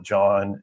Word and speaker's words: Jean: to call, but it's more pronounced like John in the anime. Oh, so I see. I kept reading it as Jean, but if you say that means it's the French pronunciation, which is Jean.